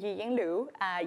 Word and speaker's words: Yiying Lu: happy creative land and if you want to pronounce my name right you have to smile because it's GA so I was born